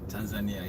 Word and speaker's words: Tanzania: I also want to go to, I believe I'm pronouncing it right, Tanzania. Tanzania, yes.